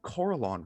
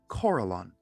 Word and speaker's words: Corellon: Did you just say Corellon wrong? Corellon.